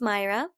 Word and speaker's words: Mayra: only because I'm Hispanic my name is pronounced Mayra and it's spelled ma